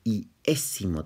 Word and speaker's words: iésimo: Ahí se le conoce como el iésimo término, con acento en la E.